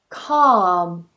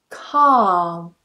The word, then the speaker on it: calm: Calm, calm. So notice that that L is completely silent.